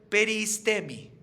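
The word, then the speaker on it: περιΐστημι: El significado de la palabra evitar, la palabra evitar en griego es peristemi, así se pronuncia.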